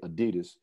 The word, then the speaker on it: adidas: and his last name was dossler d-a-s-s-l-e-r so adi das is what it is so pretty much mostly only americans say adidas which is acceptable because in america that's what